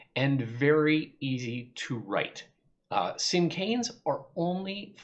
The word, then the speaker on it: cinquain: Now, I should also mention that I know the name looks like it should be pronounced Cinquain because of that Q-U in the middle, but it's actually pronounced Cinquain.